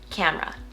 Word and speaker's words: camera: Now try to say it for yourself with just 2 syllables, camera.